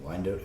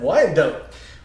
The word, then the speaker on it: Wyandotte: D-Day Adventure Park in Wyandotte, Oklahoma. Hey, you said it right! I did. Wyandotte. Wyandotte. Let's kick it off.